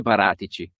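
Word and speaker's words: Paratici: through google translate earlier this is how they say it in italian fabio baratici the former uva sporting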